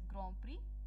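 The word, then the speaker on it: Grand Prix: एंड second चीज is formula one British ग्रां प्री, this is pronounced as ग्रां प्री 2020.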